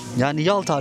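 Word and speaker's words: Ялта: Ottoman तुर्की में इसे एलिता, येलिता, याल्टा, येलिता आदि कहा जाता था। क्रीमियन तातार में भी इसका उच्चारण इसी तरह होता था। और समय के साथ यह नाम बदल गया और अब रूसी और यूक्रेनी में इसे याल्टा उच्चारित किया जाता है।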